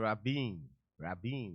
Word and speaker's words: Rabin: Rabin, that's how his name is pronounced.